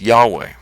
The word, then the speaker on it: Yahweh: never to be uttered there's actually some uncertainty about how this name would have been pronounced but most interpreters seem to think that it was probably pronounced as Yahweh now what was this